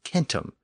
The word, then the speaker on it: centum: word for 100 was Kum spelled c n tuu m keep in mind that the C was always pronounced as a K in Latin in Sanskrit the word